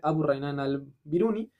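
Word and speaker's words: Abu Rayhan al-Biruni: de hecho hay un nombre, digo, no quiero pronunciarlo mal, que es Abu Raynan al-Biruni, perdón la traducción nuevamente, Abu Raynan al-Biruni, que en esos tiempos ya estaba calculando el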